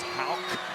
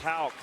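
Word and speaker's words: Haugh: And people watching the game say, wait a minute, his name is Houck, like a K at the end. It's spelled H-A-U-G-H, but it's pronounced Houck.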